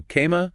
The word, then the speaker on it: cama: It's always A, like the A in father. Always. Okay. So cama, C-A-M-A, meaning bed. It's just that both A's the same, nice and open, that consistency.